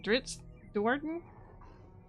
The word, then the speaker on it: Drizzt Do'Urden: Guinevere is the companion cat to Drizzt, I don't know how to say his name, Drizzt Do'Urden?